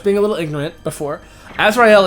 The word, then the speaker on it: Azrael: a little ignorant before Azrael is actually the way it is pronounced more commonly in sism and Islam uh and it's it's